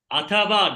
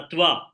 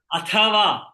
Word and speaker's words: अथवा: In Sanskrit, when it is not mentioned, it is full. You have full matra, not half matra.